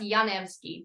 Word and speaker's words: Janevski: It's actually pronounced Janevski, but I don't really say that much.